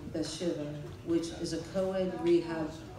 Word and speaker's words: Bathsheba: The first place he took me to was Bathsheba.